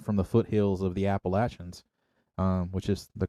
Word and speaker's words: Appalachians: get it, because coming from the foothills of the Appalachians, which is the correct way to pronounce it for anybody out there.